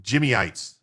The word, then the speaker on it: Jimites: Good evening, Jimites, pronounced Jimmyites.